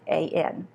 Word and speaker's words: Mehrabian: name because I'm not sure I'm going to pronounce this correctly, but Dr. Mehrabian, it's Mehrabian.